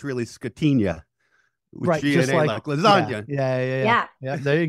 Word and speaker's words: Scatigna: if you're Italian you should know it's really scatina lasagna yeah yeah there you go oh yeah